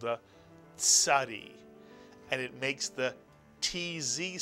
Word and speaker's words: Tzadee: It really is a very easy letter to pronounce once you think of the Mr. and Mrs. Katz, the ts sound, the Tzadee.